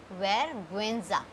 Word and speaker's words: vergüenza: Now rule number 3 is, but if you see something like this on U, this is called diaresis. Diaresis. If you have something on this like E or GUI, so we will pronounce the U.